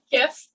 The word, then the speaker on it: GIF: It's like gift, but you took the T off, right? It's like a little tiny present for you. Here's a little video. It's a tiny present. It's a GIF.